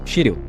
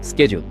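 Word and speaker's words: schedule: সেকেন্ডে থাকে যেটা আমরা অনেক বাঙালিরা বলে থাকি শিডিউল। শিডিউলের official pronunciation স্কেডিউল। এখানে SCH এর প্রোনাউন্সিয়েশনটা SK এর মতো হয়।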